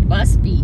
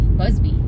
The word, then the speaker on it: Busby: I'm going to use Buzz Bee because why not I'd probably say his name wrong he said Chris says everybody says my name wrong it's a Busby Busby whatever I say with